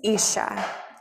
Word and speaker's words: Isa: illustrated by Kenisha Sneed this is ISA you say it like Isa and this is her